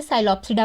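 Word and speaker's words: Psilopsida: पसरा साइलो फसिडोस इस इसमें पी साइलेंट होता है इसे इसलिए साइलो पसडी पढ़ते हैं साइलम की फोटो आप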